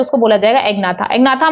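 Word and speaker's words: Agnatha: Vertebrates को इसको बोलते हैं एग्नाथा, इसको बोलते हैं नेथोस्टोमेटा। ठीक है, एग्नाथा ए को साइलेंट मत रखिएगा, इसमें जी को साइलेंट रख दीजिएगा, नेथोस्टोमेटा।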